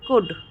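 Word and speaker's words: could: है वुड और शुड आप देखते हो कि हम कुड नहीं बोलते हम उल्ड नहीं बोलते हम शुल्ड नहीं बोलते हम एल का प्रोनाउंस नहीं करते हैं क्योंकि एल साइलेंट हो जाता है तो हम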